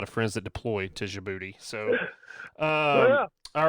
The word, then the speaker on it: Djibouti: It is pronounced Djibouti.